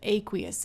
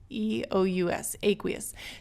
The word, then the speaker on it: aqueous: Aqueous, A-Q-U-E-O-U-S, aqueous. Depending on where you are in the world, this could be pronounced aqueous.